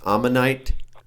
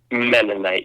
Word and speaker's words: Mennonite: Amish right yes that is correct is that pronounced amonite or menish I'm menite yes got it so when we joke about